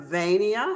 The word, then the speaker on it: Vania: about yourself i am vania hudson as everybody is makes jokes at my name i tell them to use uh pennsylvania transylvania sylvania uh to to remember how to pronounce the name um everybody back in